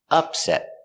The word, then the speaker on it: upset: The noun is pronounced with the stress on the first syllable, upset.